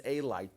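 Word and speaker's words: אלי: And one of them it's spelled with the vowel in the form of nikudot, which is Aleph, Lamed, Yud, which can also be read as Elai, to me.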